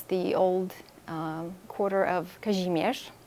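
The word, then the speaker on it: Kazimierz: old uh quarter of kajimesh that's the polish pronunciation otherwise known as casimir yes and uh it's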